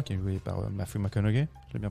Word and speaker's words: McConaughey: Voilà, c'est ça, parce que justement le personnage donc de Cooper, qui est joué par Matthew McConaughey, je l'ai bien prononcé. Matthew McConaughey.